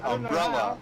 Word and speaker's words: umbrella: about rude yeah let's putting the emphasis on the first syllable of a three syllable words generally a pretty southern thing to do the more normal American Way would be umbrella or insurance sitting on the screen